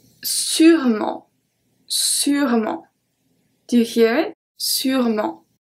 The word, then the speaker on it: sûrement: Sûrement. So I don't say sûrement. I say sûrement. It's one of the words when the E in the middle is just not pronounced.